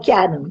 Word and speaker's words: Ciarán: Ciarán Hinds, eu acho que é assim que pronuncia o nome dele. Ele mesmo. É o Ciarán, exatamente.